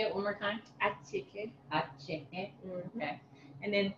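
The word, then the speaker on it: attiéké: Acheke.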